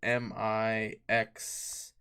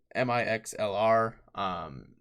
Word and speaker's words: Mixlr: It's spelled Mixlr. Yeah, Mixlr.